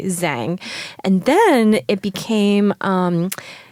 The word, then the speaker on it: Zhang: Well, it's funny because for the longest time, people said Zhang because and then I started to say Zhang.